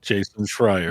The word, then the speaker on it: Jason Schreier: Jason Schreier.